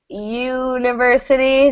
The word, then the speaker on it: university: Tas careful this one University just like Union when we have that y y sound is a consonant so a university it's